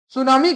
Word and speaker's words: tsunami: सुनामी का जो ये टी लेटर फर्स्ट है इंग्लिश में ये साइलेंट रहता है।